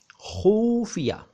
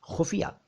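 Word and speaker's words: ख़ुफ़िया: खुफिया, ये उच्चारण बिल्कुल ठीक नहीं है, मेरे मीडिया के दोस्त ज़रा ख़ास तौर से ध्यान दें। खुफिया उच्चारण ठीक नहीं है, इसमें छोटा ऊ की मात्रा होनी चाहिए। खुफिया, नुक्ते तो दोनों ठीक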